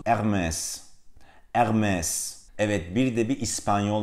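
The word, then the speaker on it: Hermès: gerektiğine dair bir göstergedir fransızcadaki hiçbir zaman telaffuz edilmez H sesi Fransızca'da yoktur r harfi içinde şunu söyleyeyim Tıpkı Almanca'da olduğu gibi raiine arkalardan gelir Yani değil Dolayısıyla bu markanın doğru telaffuzu ermez vermez Evet Bir de bir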